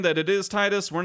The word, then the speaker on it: Tidus: We're not saying that it is Titus. We're not saying that it is Tidus. We're just saying we're going to pronounce it Titus.